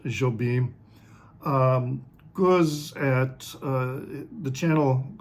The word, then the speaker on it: Jobim: correct my pronunciation because I think in Portuguese the J is pronounced like a soft J whereas in Spanish it's it would be hobim rather than uh anyway let me